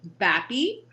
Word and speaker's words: Bappe: And it's actually Bappe because it rhymes with happy, because I'm usually happy unless I'm not.